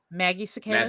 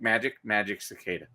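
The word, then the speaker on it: Magicicada: Maggie cicadas. Magic, think magic cicada. But it's magic cicada.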